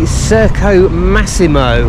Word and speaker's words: Circo Massimo: it it's overlooking here this is the Circo Massimo and that is pronounced correctly which is an old